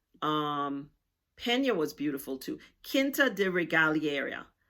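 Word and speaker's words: Quinta da Regaleira: Kinta de Regalier, that's what I think is the correct pronunciation.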